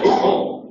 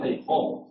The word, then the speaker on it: Feijó: Es yato. Es yato, son sílabas diferentes. Sí, sí. Porque para que hubiera un diptongo tendría que haber alguna que fuese alto. No, aunque en realidad se pronuncia como una vocal larga, pero el esquema acentual sería así. Campo.